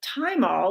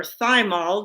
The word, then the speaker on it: thymol: 60 to 70 percent thymal or thymol depending how you say it and uh the two